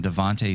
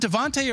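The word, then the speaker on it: DeVonta: Tyreek Hill and then Devonte Smith is it Devonte or devont it's Devonte correct Devonte sounds right to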